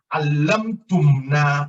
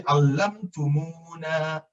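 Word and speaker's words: علمتمونا: So you don't want to say allamtumna. Allamtumna will make your mouth look a little bit awkward. But when you say allamtumuna, muna, it flows.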